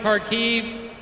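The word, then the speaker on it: Kharkiv: that correct is it karkiv is the pronunciation right karkiv great i know korea i've got a bunch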